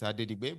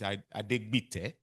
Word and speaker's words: Adegbite: What I have here is Adedigbe, but now I know it's Adegbite.